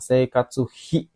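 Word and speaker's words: 生活費: Seikatsu hi. Jadi ini sebenarnya satu yang sering digunakan sepaket lah ya. Alah, kenapa ini jadinya? Teman-teman, seikatsu hi ya.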